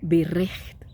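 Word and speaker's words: ברית: Pacto en hebreo se pronuncia birrej y equivale a tratado, alianza.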